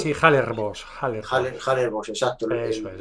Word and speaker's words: Hallerbos: se llama, empieza con H, no sé si pronuncio bien, yo pronuncio Halle, Ah, Halle, sí, Hallerbos, Hallerbos.